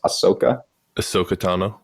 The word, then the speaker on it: Ahsoka Tano: name how do you say her name Ross ahsoka ahsoka tano yeah and on top we don't even know